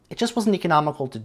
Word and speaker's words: von Holst: a germanic sounding name von holst or pronounced in german fawn holst that was considered an